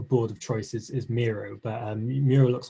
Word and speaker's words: Miro: I told you Miro is a Spanish word, so you've got to pronounce it with passion, Miro.